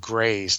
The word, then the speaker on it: Greys: It's actually, you've been mispronouncing it the entire show. It's actually 50 Shades of Greys. That's plural, G-R-E-Y-S. And you've been using the singular, which tells me what kind of smut you've been reading.